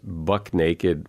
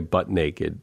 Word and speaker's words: buck naked: hear a lot is Buck Naked or but people say butt naked and it isn't butt naked it's buck naked right that's a really